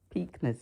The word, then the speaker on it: Preakness: Preakness, yeah, Preakness, yeah, that's right.